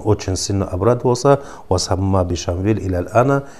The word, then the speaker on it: Шамиль: он там находит, что имя Шамиль это является галат, то есть ошибкой, бальхуа Шамвиль, то есть это имя произносится как Шамвиль.